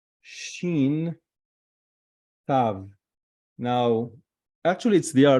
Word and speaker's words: shin: You see here, the dot is the left side is sin. You pronounce it as sin. But if it's on the right side, you pronounce it shin.